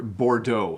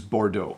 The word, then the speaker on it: Bordeaux: word for the colour Bordeaux so we do use the French pronunciation so in English we use Bordeaux if we say Bordeaux